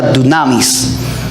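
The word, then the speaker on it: δύναμις: La palabra poder en el griego es una palabra que se pronuncia dunamis.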